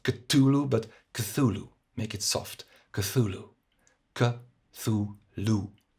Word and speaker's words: Cthulhu: Now, to chop this up, Cthulhu is pronounced Cthulhu. The th like the English th. If it's too hard, just make it quiet, not too much t, not Cthulhu, but Cthulhu.